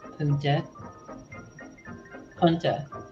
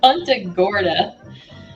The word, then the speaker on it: Punta Gorda: 1915 about eight years ago I came to Punta Kunta I keep saying I keep saying it wrong Punta Gorda stopping here from about November till May snowbird